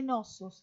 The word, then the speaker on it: Knossos: fue el palacio de knossos que está ahí el nombre que se escribe con una sede principio que no se pronuncia acá tenemos restos de